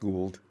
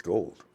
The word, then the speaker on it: Gould: back at Salinas High but this is not pronounced gold it's gold according to Robbie flux gearing up for a